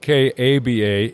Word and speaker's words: Kaaba: world was a shrine called the Kaaba KA ABA sometimes pronounced or spelled ka ba it was a shrine